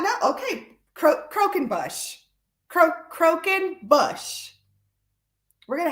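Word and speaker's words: croquembouche: like that's crazy is that really how it's pronounced Carol okay you get the prize I I did not know okay cro croen Bush cro croen Bush we're gonna have to use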